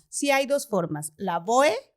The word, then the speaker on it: Lavoe: que pronunciar completo no y es la boe porque así se así se está escrito no con todas las letras pero entiendo que veces en muchos lados la e al final no se pronuncia entonces por eso también lavó pero también o